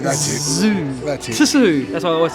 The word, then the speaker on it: Tszyu: Can you spell Tim Tszyu?